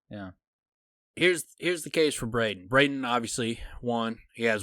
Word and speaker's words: Braden: It is Braden?